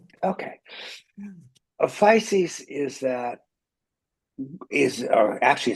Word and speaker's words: Physis: A fisc is that is or actually it's pronounced feces in Greek.